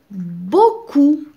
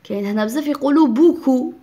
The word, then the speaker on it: beaucoup: suis algérienne j'ai gagné beaucoup de médailles j'ai gagné beaucoup de médailles beaucoup alors c'est faux il y a beau coup eau se prononce o donc beaucoup de médailles médaille chez